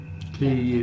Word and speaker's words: quay: Is that key? The lake... Yes. Key is key.